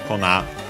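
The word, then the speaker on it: 粉: But yeah, Kona means powder. Kona accent on the last mora.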